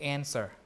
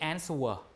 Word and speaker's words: answer: D is gone and W is also gone in pronunciation. Right? In modern English, do you say answer? We don't. We say just answer.